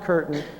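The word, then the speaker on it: Kirton: The blacked out name is Major Curtin, K-I-R-T-O-N. In the FBI document it says C-U-R-T-A-N, but his name is pronounced Curtin, but it's K-I-R-T-O-N. Major Curtin tells the FBI that what it is a weather balloon.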